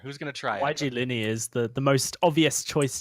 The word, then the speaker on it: Yglini: Yglini, kind of like a like I said, kind of an Italian pronunciation.